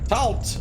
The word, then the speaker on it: Tatl: Tatl, with a silent L.